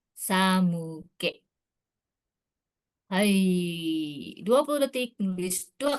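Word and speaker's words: 寒気: Nah, ini kanji gengki dibacanya ternyata bukan ki tapi ke ya untuk yang di sini ya. Jadi bukan samuki tapi samuke.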